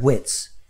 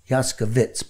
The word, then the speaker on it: Yaskovitz: Free consultation, you call Matt Yaskovitz, not Witz. Yaskovitz.